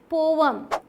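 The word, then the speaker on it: poem: इसकी सही प्रोनाउंसिएशन क्या है? पोवम।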